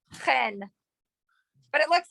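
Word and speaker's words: חן: It's a chet, not It's a chet and not a hey. Ah, So it's not hen, it's chen.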